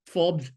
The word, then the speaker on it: Forbes: Farbas Sabha or when because we Gujarat is mangle every pronunciation we call snacks snakes and we call ball and bat bull and bait. So I mean we call forbs farbas and therefore the the the the sabha is called farbasa.